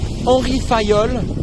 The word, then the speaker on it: Henri Fayol: san valenco in normandy to answer your question orifayol is the way you pronounce the name of the guy who invented